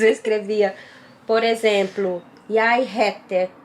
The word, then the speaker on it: heter: às vezes eu escrevia, por exemplo, Jeg heter, que é heter, é com H, Com né? H, Aí eu escrevia com R, porque na pronúncia igual é eu heter, ouvia. né? Assim, eu você ouvia, eu escrevia igual eu ouvia. E o R aqui, o H aqui se pronuncia na maior parte, Das vezes com som de R.